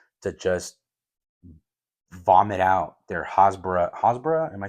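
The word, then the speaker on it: hasbara: creators out there to just vomit out their Hosbbor Hosbra. Am I saying it right? I think Hosbara talking points which is crazy.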